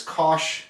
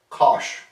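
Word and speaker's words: cosh: the hyperbolic cosine in abbreviation is Kos X cos x so that means hyperbolic cosine pronounced Kos and there's our familiar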